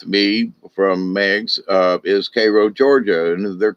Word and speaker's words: Cairo: Don't call it Cairo, although it's spelt that way. Cairo's in Egypt, Cairo's in Georgia.